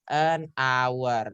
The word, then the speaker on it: hour: Jadi an hour. Nah, di sini teman-teman cara bacanya bukan hour, tapi hour. Atau contoh, saya adalah pria yang jujur.